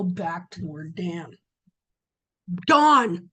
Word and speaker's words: Dan: Dawn. See, I keep saying Dan. From dawn to Beersheba. From dawn to Beersheba. From dawn to Beersheba. Don't think it's an accident that somehow in our language it got pronounced Dan.